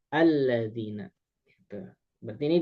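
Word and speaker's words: الَّذِينَ: Pokoknya mah setiap alladzina eh setiap kalimat ee alladzina gitu ya, maka alifnya dibaca A. Alladzina gitu.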